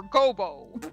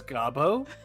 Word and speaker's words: Godot: Well then, Prosecutor Gobo. Holy fuck! You did not just pronounce it Gobo! How else do you want me to pronounce that? In my mind, I read it as Gabo.